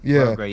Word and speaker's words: Prograis: I don't know how to pronounce his name, but man, that boy, he's too much. Prograis, Prograis, he corrected me.